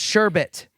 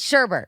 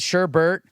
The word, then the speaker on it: sherbet: is such it's pronounced sherbet it's it's sherbet we've always called it Sherbert but apparently it's spelled and supposed to be pronounced sherbet and I'm very upset